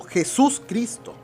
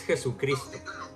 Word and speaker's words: Jesucristo: Pero en este mensaje, para empezar, él llama a Jesucristo, nuestro Señor Jesús, como Jesús Cristo. Bueno, está mal pronunciado. Es Jesucristo.